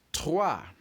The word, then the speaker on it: trois: 3 in French is trois. Trois for 3. And how do you spell trois? Simple. It is T-R-O-I-S.